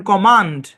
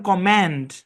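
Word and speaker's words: command: British ইংলিশে এই শব্দের উচ্চারণ কমান্ড, আর আমেরিকান ইংলিশে এই শব্দের উচ্চারণ কম্যান্ড, এর সাউন্ড হবে এ, বুঝছেন?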